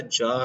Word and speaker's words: czar: जार, CZAR, इसमें सी silent है, CZAR।